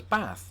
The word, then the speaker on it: bath: As you can see, I say it as bath, not too dissimilar, in fact, to how most Americans would say it.